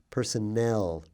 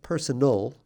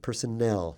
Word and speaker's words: personnel: employed in an organization notice the pronunciation personnel not personal not personal but personnel that's a double n